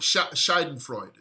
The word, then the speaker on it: Schadenfreude: And it's called Schadenfreude. Spelt with an A, but it's called Schadenfreude. And it's a German word that specifically means pleasure that comes from the troubles of another.